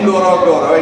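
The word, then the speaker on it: Ngorongoro: Even I cannot pronounce it properly. Ngorogoro. It's Ngorogoro.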